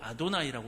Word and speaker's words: 아도나이: 원래 그것은 아도나이라고 읽어야 되는 부분인데 여호와가 된 것이에요. 시간이 지나다 보니까 이게 굳어져 버렸네요. 그래서 지금은 병행해서 사용합니다. 히브리어 성경을 읽을 때는 여호와라고 안 읽고 아도나이라고 읽습니다.